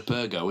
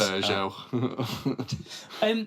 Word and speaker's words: Peugeot: It's not like driving a Pergo, is it? A Pugot. Pugrot. Liam has trouble pronouncing car names. Peugeot.